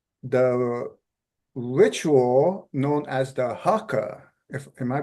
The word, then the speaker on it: haka: Rifle was uh the ritual known as the haker if am I pronouncing that right yes h a Haka the Haka and that is performed by the